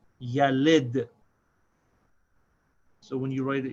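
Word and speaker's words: يلد: This is pronounced yalid.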